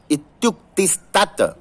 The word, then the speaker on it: इत्युक्तिस्तत्: देखिए, इति उक्ति ही तत्, इत्युक्तिस्तत्, वहां उच्चारण में कहीं कहीं आप सबसे त्रुटि हो जाती है। इत्युक्तिस्तत्, इति प्लस उक्ति ही प्लस तत्।